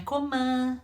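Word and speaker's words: comment: kommon como novamente ó tentando aí para pronúncia na coman não Taió como boca redondinha com a m e n sempre mais fechadinho Caprichou nessa pronúncia que é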